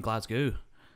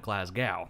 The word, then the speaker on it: Glasgow: And they're like, oh, you mean Glasgow? I'm like, you sounded American. You called it Glasgow. That's how Americans say it, because that's how it looks.